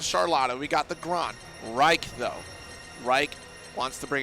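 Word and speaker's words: Raich: So, Reich. Reich. Gosh, why is that so familiar? I don't know, but it rhymes with Psych.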